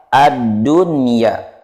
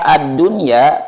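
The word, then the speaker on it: الدنيا: Yang pertama adalah ad-dunya. Di kata ad-dunya kita tidak boleh membacanya dengan dengung. Tidak boleh dibaca seperti ini. Ad-dunya, tetapi kita harus membacanya dengan jelas. Ad-dunya.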